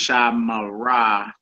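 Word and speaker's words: שָׁמְרָה: Shamra is pronounced Shamara, and Shamru is pronounced Shamaru.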